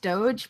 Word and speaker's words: Doge: I know it's pronounced Doge, but it's Doog to me because Doge. I just see like how someone with like learning difficulties would say it, and that's how I say it.